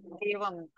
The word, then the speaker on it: देवं: Like when we pronounce Vasudeva Devam, so after Devam, हाँ, our ost will be closed, not open.